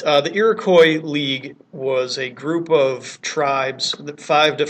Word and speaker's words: Iroquois: or the iroy Confederacy I know the word ends in an S but you never pronounced the S so it's always iroy if it's singular or